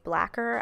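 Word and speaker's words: Blacquer: liner in the shade blacker I think spelled like lacquer but with a b and an L I'm using that to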